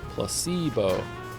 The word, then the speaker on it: placebo: precocious Placebo oh Placebo the stress is on the middle cind Placebo placebo very good you're